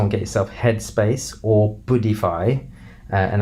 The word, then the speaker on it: Buddhify: Go on the App Store and get yourself Headspace or Buddhify, and that's spelled like Buddha except Buddhify, as in IFY, yeah, Buddhify, check these apps out because they guide you through meditation.